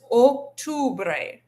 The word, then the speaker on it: octubre: Want to really practice this octubre. Make sure you're giving a nice o sound on that o, and then an u sound on the on the u.